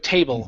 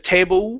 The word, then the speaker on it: table: Give me a good L at the end of table instead of table.